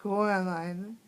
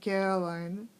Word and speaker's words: Coraline: They got your name wrong. You know, they keep saying Coraline, not Caroline. Not Caroline at all."